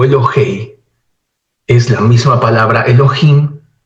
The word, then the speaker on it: Elohey: constructo por eso aquí la palabra se lee elog o elohei porque es la misma palabra Elohim pero en estado constructo por eso la forma final no es Im no es no es la pronunciación in sino la terminación e o e elohei o Elo